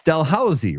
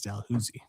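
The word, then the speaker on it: Dalhousie: It's Delhauszy, right? Yeah. Nope. It is Delhusi. It's North Gower.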